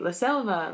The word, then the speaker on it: selva: be in in Spanish these are pronounced like bees basically so since I knew how to spell it i would say la selva the son of a--